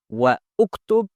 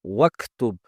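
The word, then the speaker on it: واكتب: In this case, hamza al-wasl will not be pronounced, and waw will be connected to the letter following hamza al-wasl, which is kaf. So instead of saying iqra wa uktub, we say iqra waktub.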